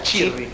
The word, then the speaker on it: Cirri: Si pronuncia Cirri.